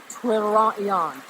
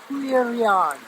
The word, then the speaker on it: Tuirean: If you go back even further in history, in the Celtic Irish mythology, it's, I'm gonna pronounce this incorrectly, Twirion. Twirion. It's spelled like Tuirean.